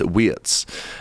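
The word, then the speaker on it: Wirtz: you know, we've seen with Florian Wetsz, uh, which is actually the the correct way to pronounce it. I was in Holland at the weekend and some German lads told me it's Wetsz.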